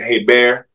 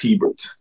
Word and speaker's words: Hebert: So they say "Hey Bear," but it is pronounced Hebert.